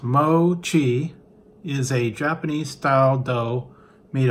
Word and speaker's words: mochi: Mei maida in and then it says mochi pronounced mochi is a japanese-style dough made of powder pounded